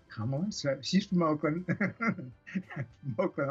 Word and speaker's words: Kamala: Kamala, she's from Oakland.